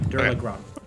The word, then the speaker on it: Dullahan: It is pronounced anyway, and Yes. it's fine. Here you go. Dullahan. Actually, Dullahan.